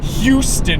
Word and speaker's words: Houston: me the other day you're supposed to say that H apparently the H is like very important you have to say Houston you have to make